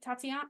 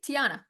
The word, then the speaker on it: Tiana: my favorite stories is I saw a tati Tatiana wait T Tiana thank you I'm like I always get her name wrong princess in the Frog and then I